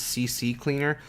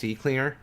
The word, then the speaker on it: CCleaner: Some people pronounce this CC Cleaner, but if you look at it a little bit more closely, it's just CCleaner.